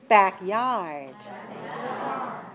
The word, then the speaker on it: backyard: mouth more right okay and so do you back yard right so that's stressed that's one stressed vowel